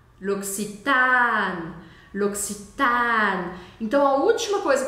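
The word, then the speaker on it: L'Occitane: vamos começar do final o e no final da palavra novamente não é é pronunciado tá com vermelho nele luxan o a eu vou falar ele bem aberto com um som de a mesmo não é oxitan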